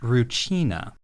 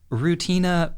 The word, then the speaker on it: Rutina: The name of the girl, it's written Rutina, but it's pronounced Ruchina. To my ear, Rutina both sounds like I'm just saying the word routine and also like I'm describing some sort of root vegetable, so I prefer Ruchina.